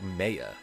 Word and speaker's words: Maya: Oh my god, she pronounces it mayor. I've been I've been saying it wrong this whole time.